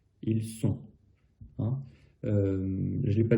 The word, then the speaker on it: sont: Par contre, il reste ON qui va faire un son ON. Ils sont.